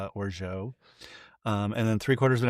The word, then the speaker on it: orgeat: A half an ounce of orgeat, which is spelled like orgeat, but it's orgeat.